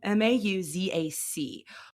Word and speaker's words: Mauzac: So this wine is primarily made from a grape called Muzak. I'm saying it wrong. Mauzac.